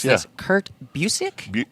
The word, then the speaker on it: Busiek: Which I knew was Alex Ross because I'm more of a visual person, but I'm going to probably it's mispronounce gorgeous, this. Kurt Busiek? Busiek, yeah.